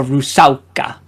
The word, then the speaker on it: rusalka: That's how you pronounce it in Polish. A Rusalka.